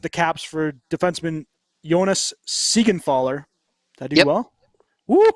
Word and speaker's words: Siegenthaler: also traded with the Caps for defenseman Jonas Siegenthaler. Did I do well? Woo! Yeah, you good said it right. Siegenthaler.